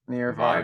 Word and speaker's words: Near/Far: You just say it near far. You don't say that pronounce the slash, but that's okay if you would like to pronounce near slash far.